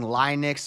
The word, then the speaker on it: Linux: Just because you learn to pronounce something in some way doesn't mean it's correct. Regardless, that's not what's in Linux is not question.